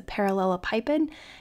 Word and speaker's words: parallelepiped: find the volume of the parallel pipid also sometimes pronounced the parallelopiped determined by the vectors